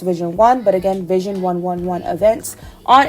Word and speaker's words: vision11: page on Instagram at vision11 events pronounced Vision one but again vision11 events